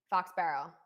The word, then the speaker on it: Foxborough: the foxborough game and i say it with the philly accent i'm sorry foxborough i love it i love the way you say it how do you say it can you say it foxborough fox barrow you say fox barrow oh okay that's a